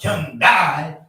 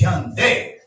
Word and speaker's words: Hyundai: Yes, Americans don't say it right. It's not Hyundai, it's Hyundai.